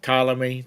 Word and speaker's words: Ptolemy: Like Ptolemy, the P is silent.